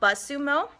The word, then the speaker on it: BuzzSumo: to Google it later, the tool is called BuzzSumo. BuzzSumo. It's spelled B-U-Z-Z-S-U-M-O.